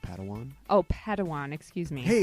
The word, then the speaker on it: Padawan: to this bold Jedi it's pronounced Padawan Oh Padawan excuse me